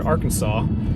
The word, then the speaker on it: Arkansas: might call it is Ark City and it's spelled like the word Arkansas but if you're not familiar with this part